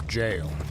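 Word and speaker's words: gaol: that that word means jail well not bloodborne but me reading it as G caused people to teach me in chat I'm like no it's pronounced jail another did you kill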